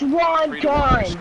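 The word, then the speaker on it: Rondón: It's Rondon, okay? Rondon. Inning number five.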